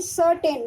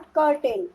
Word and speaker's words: certain: Here C सर्टेन, नॉट कर्टेन.